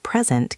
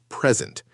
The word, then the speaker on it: present: Let's practice with present. If you stress the first syllable, it means a gift. Present. If you stress the second syllable, it means to give a speech. Present.